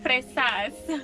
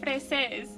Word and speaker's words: fresas: Am I saying it right? Fresas. What'd I You say? said freses. Fresas. You're trying to make it sound really close to feces.